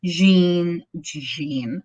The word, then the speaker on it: Jean: He was charged with the murders of, at the time, Irene Turner, Marie West, Jean, I say it like it's French.